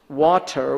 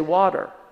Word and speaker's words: water: In the same way, English generally, unless they're from Watford, they'll pronounce water with a T, and they pronounce it as a proper dental. Whereas I'm from California, we say water.